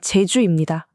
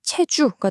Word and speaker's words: 제주: 제주의 경우도 마찬가지였어요. 어떤 중심을 딱 잡아주는 존엄한 느낌의 제 발음이 일본어에서는 표현하기가 어려우니까 스치듯 지나가는 치읓이나 시옷 같은 발음, 그래서 체주가 된 거죠.